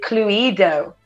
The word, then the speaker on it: Cluedo: but julia says uh we pronounce it clue edo and tim says it